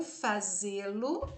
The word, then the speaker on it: fazê-lo: O verbo termina em e a última sílaba é a tônica, é uma oxítona terminada em é acentuada.